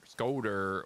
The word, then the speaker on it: scoter: Scooter. Scooter. So S-K-O-T-E-R. Is that scooter? Scooter. S-K-O-O would be scoo. So scotter. Scotter. Scoter. Well, T-E-R. The E with the single consonant between the E and